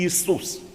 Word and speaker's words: Ісус: вже як і Ісус правильно Браття і сестри буде і вимовляти і писати з двома і і Ісус тому що іє іє